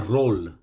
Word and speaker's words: role: The first one, when the R-O-L-E, now roll, is exactly the same pronunciation as R-O-L-L, roll.